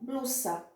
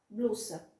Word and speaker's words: blusa: como se fosse então tem a palavra blusa em português eu escrevo com essas mas eu pronuncio com som pesado não é um som de z não espanhol vai ficar como blusa blusa tá como se fosse ssg a constante ter lata